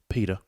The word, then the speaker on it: PETA: go by the name p-e-t-a i believe it's pronounced pita ah peter the good old animal yeah and